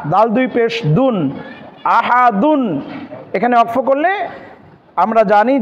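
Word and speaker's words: أحد: হবে কি আহাদ আহাদ কণ্ঠনালীকে চাপ দিয়ে হলকের মধ্যংশ থেকে যে হাটি উচ্চারণ হয় সেটি এখানে রয়েছে তাহলে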